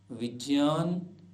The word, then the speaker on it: विज्ञान: गया ज जैसे आज्य सामान्यतः लोग बोलते हैं आज्ञा यज्ञ ज्ञान जबक ठीक ठीक उच्चारण होगा आज्ञ यज्ञ ज्ञान विज्ञान ऐसे ही अन्य उदाहरण